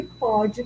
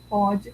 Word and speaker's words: pode: diferença quanto a pronúncia é a palavra pode para indicar o passado e pode com som aberto para indicar o presente Tá bom pode com som fechado indica passado pode com som aberto indica